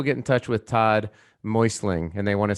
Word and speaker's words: Meussling: butcher your last name is it muslin uh it's uh moistling it's moistly so you didn't butcher it you're like most people that that's how you would tend to it but but phonetically it would be like m-o-y-s-l-i-n-g okay so what is